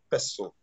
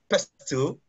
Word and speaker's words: PESTLE: the whole concept of pestle. I mean, some people call it pestle, but I mean, what I know it as is pestle.